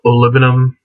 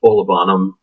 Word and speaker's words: Olibanum: olum and um by the way it is pronounced olum not olanam like you see a lot of people saying